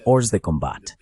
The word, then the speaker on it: hors de combat: en el agua, están hors de combat. Esa es la pronunciación francesa de lo que a los marines nos gusta decir, hors de combat.